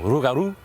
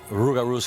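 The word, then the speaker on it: rougarou: Now over time with the rolling of the tongue the l sound turn into an r. So rugaroo to raru. Now there are a few ways that rugaroos can come into existence.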